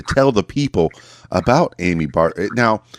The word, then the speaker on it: Barbera: I said Amy Barbera, Barbara, to make sure, because I remember Hanna-Barbera. They were pretty big about pronouncing it that way.